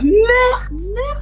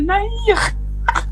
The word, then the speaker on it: Nayr: Ner, c'est Nahir. Non mais Ner, non mais de toute façon je savais. N-A-Y-R, je savais qu'il y en a qui allaient prononcer Ner. Bah oui, c'est plus facile à dire Ner que Nahir.